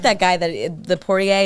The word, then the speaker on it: Poirier: I like that guy the Poirier. Is that how you say his name? Dustin He's Poirier. and he's a good dude.